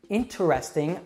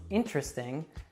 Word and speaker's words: interesting: is usually pronounced probably interesting often becomes interesting and it's pretty rare